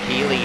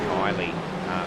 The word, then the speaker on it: Keeley: He's got, that's Keeley in front of him. I think I was pronouncing it Kylie earlier. I'm pretty sure that's not the case.